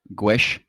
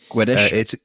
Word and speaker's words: Guedes: Based on what I've just said, I'm going to say Guesh. Guedes.